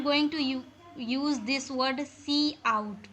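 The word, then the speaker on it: cout: So whenever we want to print something on our screen, then I am going to use this word C out. Pronunciate as C and out.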